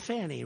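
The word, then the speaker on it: Fani: it's F ni I but they pronounce it fonnie how do you could would if you had the name if you had the name f n i it's called Fanny right how do you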